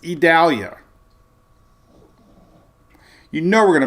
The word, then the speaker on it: Idalia: It would be, E. Dalia. It's Idalia.